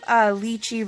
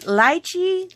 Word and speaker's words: lychee: Is it lychee, lychee? And I looked it up, and the British say lychee and the Americans say lychee. So it's no wonder that I gravitated towards saying lychee rosé the whole time. But both ways are correct.